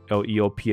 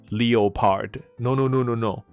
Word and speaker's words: leopard: 那英文同样是用 Leopard 这个字，我弄了半天我一直没发音给你听。好，怎么念？不念作 Leopard？No。